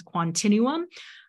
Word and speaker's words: Quantinuum: to say its name it's like Continuum but with the quantum inferences Continuum um quantino was formed